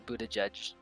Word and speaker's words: Buttigieg: So like they're Buttigieg trash. Is that actually how you say his name? Yes.